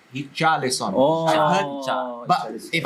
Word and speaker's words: Richarlison: Richarlison. If you say English, I say Richarlison. Richarlison. But I've spoken to some Brazilians. They don't really say the letter R. Oh. It's like almost like an H. Richarlison.